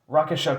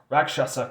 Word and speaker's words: Rakshasa: go on to the rakisha Congo rakshasa can't go sorry I I said the name wrong so yeah this is